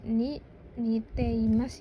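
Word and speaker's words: 似ています: Dibacanya itu ni niteimas ya bukan niteimas ada jedannya minasang.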